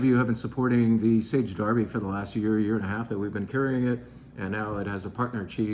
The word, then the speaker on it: Sage Derby: Let's have a little advertisement for the fact that, yes, we sell great cheese, and yes, you already knew about Sage Derby, that's how you say it, from Derbyshire, England.